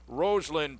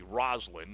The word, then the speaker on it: Roslin: Maine number 12 is rosn Peterson a goalkeeper 511 Jr from Newport Maine I say Ros I think the correct pronunciation is probably Roslin Roslin Peterson the goalkeeper 511